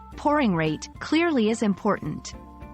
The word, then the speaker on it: pouring rate: Pronouncing pouring rate clearly is important. Focus on the OU in pouring, which sounds like ow in how, and the ate in rate, which sounds like ate.